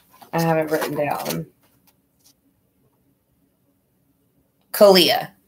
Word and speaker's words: Caliyah: CALIYAH.